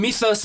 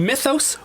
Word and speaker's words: Mythos: Is it Mythos? Well, I say Mythos because Okay. I was born and raised in Tennessee. So I think the correct pronunciation would be like Mythos. Really? It's because it's Greek.